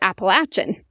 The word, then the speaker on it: Appalachian: rudely by the way Appalachian is not the right way to say it it's appalachin and I was like oh I had no idea so I like started researching and apparently both ways are correct but appalation is more